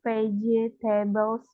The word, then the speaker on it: vegetables: vegetable in this week ini tulisannya Vegeta Tapi bacanya pakai j jadi vegetaes veget vegetables this week Which vegetables